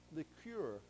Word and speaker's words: liqueur: It's almost spelled the same, but we pronounce it differently. It's liqueur.